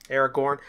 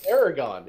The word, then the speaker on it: Aragon: their allied with the Aragon I just got a fight good idea for a fight place good yeah they're gone Aragorn I I can miss like I say what a minute Aragon it is Erica okay good don't